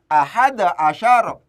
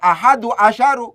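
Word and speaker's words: أحد عشر: Ahada asyara. Ahada asyara. Ya, diperhatikan. Jangan kemudian membacanya ahadu asyaru, karena asumsinya di sini menjadi fa'il. Untuk 11 sampai 19 itu namanya adat murakkab.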